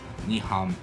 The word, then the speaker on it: Nyhavn: It was ni ham.